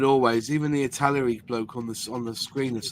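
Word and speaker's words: Italeri: Robert, it's actually Longy Italieri. That's how you say it.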